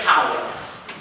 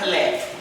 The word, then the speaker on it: collect: So when the communion litany is done, when we have read the collects, and it's pronounced not collect, collect.